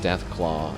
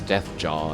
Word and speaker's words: Deathclaw: be a badass and he mispronounces Deathclaw as Death Jaw.